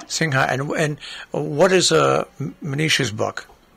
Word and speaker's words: Sinha: How did you pronounce that last name? Manisha Sinha. Sinha.